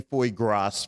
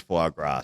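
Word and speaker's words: foie gras: If you say foy grass for a little while, you'll eventually figure out that it's fagrass.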